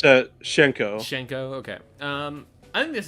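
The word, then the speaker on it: Hsien-Ko: Squiggly versus Hisenko? Is it Hisenko? Is that how you say it? I don't know. It's Shenko.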